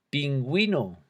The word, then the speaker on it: pingüino: Pingüino. Con la diéresis le damos sonido a la U. Pingüino.